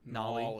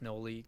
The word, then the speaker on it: Nolly: Shout out to the MVP for the week, Nolly, pronounced right. Nolly also likes Noli.